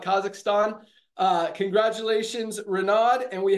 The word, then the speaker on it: Kazakhstan: we have renowned tamarov from kazakistan as not pronounce is that I call it Kazakhstan uh congratulations renad and